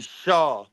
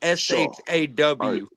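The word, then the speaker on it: Chau: say something yeah go ahead SE it's actually Shaw c h Au is actually pronounced sha like s h a w oh sh swear to God swear to God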